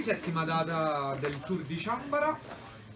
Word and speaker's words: Chanbara: data del Tour di Ciambara, la pronuncia è Ciambara, non Ciambara, e io e Andrea siamo